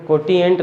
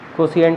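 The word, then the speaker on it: quotient: इसको कोटिएंट नहीं बोलते, कोशिएंट बोलते हैं।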